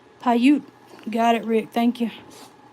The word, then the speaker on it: Paiute: I don't know how to pronounce that. Paiute. And I might need your expertise on this one to tell me which one's which. All right. Paiute.